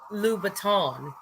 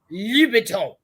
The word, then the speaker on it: Louboutin: Louboutin, and I pronounced it Louboutin, and she was like, Louboutin.